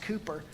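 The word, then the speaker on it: Cowper: it's spelled it looks like calper it's actually pronounced Cooper the hymn title was God moves in a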